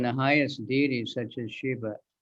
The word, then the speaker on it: Shiva: Yeah, that's, I guess, not really important, but everybody says Shiva, but it's Shiva.